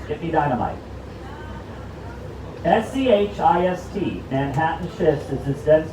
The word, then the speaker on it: schist: You'll say, ah, schist, get me dynamite. S-C-H-I-S-T, Manhattan schist, is this dense bedrock that allows us to build skyscrapers cheaply.